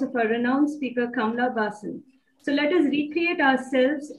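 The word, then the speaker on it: Bhasin: just want to say that my surname is pronounced as basin not as basin just so that you know kamla bhasim so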